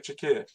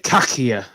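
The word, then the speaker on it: Çakır: Tunek Chakir. Tunic Kakia is what I pronounced it. He sent Nani off, didn't he, in 2013? Yeah. Well, his name is Turkish, right? His name is Kakia. Right. He was Kakia. C-A-K-I-R. Kakia. And I said and Dad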